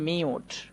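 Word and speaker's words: mute: এটা উচ্চারণ করতে হবে মিউট। মিউট মানে হচ্ছে নিঃশব্দ করা। তো এখানে দেখো একটু খেয়াল করো, ড্যাশের জায়গাতে এম ব্যবহার করেছি, আবারও ড্যাশের জায়গাতে টি ব্যবহার করেছি। তারপরে আমরা মাঝে ইউটা পাচ্ছি, এই জন্য ইউটা লং সাউন্ড হয়ে যাচ্ছে ইউ এর মতোই, মিউট।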